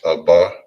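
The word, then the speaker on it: אבא: names all right so father in hebrew is pronounced as abba now when it comes to the s plurally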